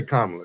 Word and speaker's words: Kamala: Let's say Kamala.